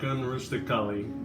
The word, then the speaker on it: unrealistically: Now it looks like unrealistically, but in English we're going to pronounce this unrealistically.